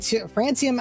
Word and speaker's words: Francium: Yeah, it's pronounced like the country Francium has a halflife of 17 minutes.